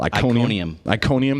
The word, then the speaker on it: Iconium: Iconium.